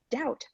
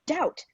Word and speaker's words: doubt: I abhor such fanatical phantasms, such insociable and point-devised companions, such rackers of orthography as to speak doubt, fine, when he should say doubt, debt when he should pronounce debt, D-E-B-T, not D-E-T.